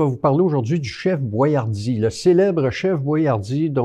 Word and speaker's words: Boiardi: le chef etori boyardi la pronon prononciation à l'italienne étant différente de celle qui a été adoptée pour les produits américains probement probablement que c'est sur les ses produit il avait mis son nom tel qui est écrit les Américains auraient prononcé Boyard d'il ou quelque chose comm ça c'est exactement ce